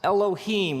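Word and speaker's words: אֱלֹהִים: it would look something like this and it's pronounced Elohim let me hear you say Elohim eloh in the beginning Elohim created the heavens and the earth now the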